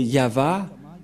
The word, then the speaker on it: Yahvah: C'est pourquoi je vous ai dit, voilà la vraie prononciation et voilà son vrai nom en juif.